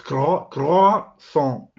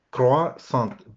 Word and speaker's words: croissant: practicado toda la vida, pero es croissant, y no se pronuncia la T final, y es medio croissant. Tienes que hacer esos dos sonidos difíciles, el de la garganta aquí y el sonido nasal.